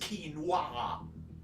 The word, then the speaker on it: quinoa: It is pronounced quinoa.